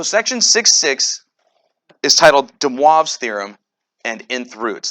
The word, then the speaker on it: de Moivre: six six is titled de moivre's theorem and nth roots that's de moivre's it's french um that's how you say it's not de moivre's or anything like that de moivre okay we start we start